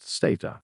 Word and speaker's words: SATA: Let's begin with serial advanced technology attachment commonly pronounced SATA.